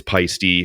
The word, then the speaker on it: Paiste: the book on that it's pisty I'm sure you've met you know people in the pisty like Kelly pisty and things like I'm